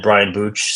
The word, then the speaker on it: Brian Booch: Yeah, I'm on all the socials at Brian Booch, spelled phonetically BRIANBOOCH.